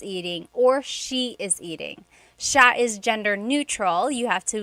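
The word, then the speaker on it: siya: It's sha sha. The si y combination makes that sha sound. It looks like it should be pronounced sia. There are some regions in the Philippines, I believe, that say sia, but usually in the central Luzon area, it's pronounced sha sha.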